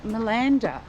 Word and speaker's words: Malanda: we are in milanda I think that's how you say it in